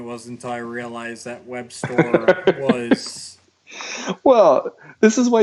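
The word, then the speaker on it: Webstor: a little bit older, I'm like, oh, Web Store. Like, because same thing. Like, I'm just thinking, I even knew how it was spelled with the O, but I'm still just thinking, like, Webster.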